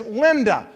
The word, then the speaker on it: Linda: My wife's name is Linda, and I believe she fits her name because that's a Spanish word pronounced as linda.